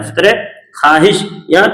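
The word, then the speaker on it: خواہش: उस तरह ख्वाहिश, यहाँ भी वाव क्या है?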